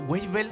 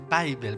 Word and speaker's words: Weibel: Weibel, ¿se pronuncia bien? Bible, pero no importa.